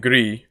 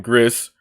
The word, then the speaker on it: Gris: but obviously Abzu and Gris. I said Gris again, Gris, whatever. Gris, however the fuck you pronounce it in Spanish, because it's Spanish, not French.